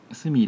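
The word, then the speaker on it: 鷲見: すみ、鷲見じゃない、すみって読むのか。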